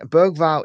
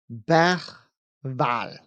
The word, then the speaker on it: Bergvall: Mike said Bergvall is pronounced something like Bergval.